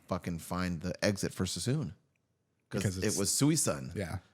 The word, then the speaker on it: Suisun: There's no way they pronounce Sassoon correct. How do you think they would say it? Suisun. That's how it's spelled.